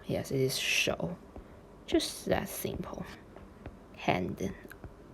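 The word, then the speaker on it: 手: because we have landed here then it is show yes it is show just that simple hand right okay i will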